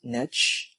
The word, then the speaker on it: niche: So niche marketing is basically you marketing to a concentrated market that needs your expertise or talent. You can pronounce it as niche or niche, and it was only